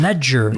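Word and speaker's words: Legere: pronounce his last name Ledger it's Ledger like a ledger of accounting Ledger John lger I could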